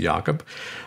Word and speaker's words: Jacob: Mine's spelled Jacob, but I pronounce it Jakob.